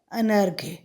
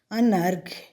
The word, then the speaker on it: अनर्घ्य: पहला शब्द है अनर्घ्य। अनर्घ्य, इसका अर्थ होता है कम कीमत का या जिसका मूल्य ना हो। तो क्या पढ़ते हैं इसको? अनर्घ्य।